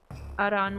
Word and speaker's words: Aran: Being a Spanish speaker, I say Aran with a soft R, but I think English doesn't use that pronunciation.